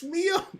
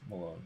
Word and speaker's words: Milone: It's Milone! No, it's actually not. It's Malone.